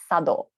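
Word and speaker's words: 茶道: the top calligraphy it's written here and it's pronounced shodo flower arrangement is kado tea ceremony is sado and even if you can't speak japanese that's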